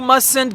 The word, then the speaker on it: mustn't: of must that is mustn't we pronounce it as muslim for example you mustn't get married again okay